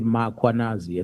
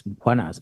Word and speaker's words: Mkhwanazi: them to pronounce Mkhwanazi, they will put an A after M. They will say Mkhwanazi, and there's no A, it's Mkhwanazi, MKH.